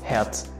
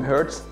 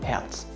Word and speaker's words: Hertz: don't don't say it his name is just heads even in german you have two words his name heads and also you have the heart which you also pronounce as herz so it doesn't really make a difference in german but it really makes a difference in english don't pronounce him hurts pronounce him heads this guy pops up